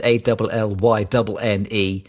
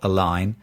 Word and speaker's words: Allynne: I'm so glad you said that because I also wasn't sure how to pronounce her surname either, which is Allynne. Mm-hmm. I've been saying Aline all week, and clearly it's not Aline.